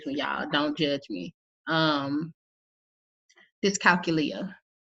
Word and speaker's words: dyscalculia: I'm gonna try to pronounce this one, y'all. Don't judge me. Dyscalculia. It's Dyscalculia.